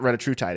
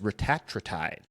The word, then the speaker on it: retatrutide: is actually, side note, now everybody's calling it retatrutide. I guess that's the actual pronunciation of it. It's not retatrutide, it's retatrutide.